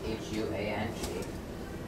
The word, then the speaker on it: Huang: Our real last name is spelled H-U-A-N-G. It's pronounced Huang, and it translates to yellow in Chinese.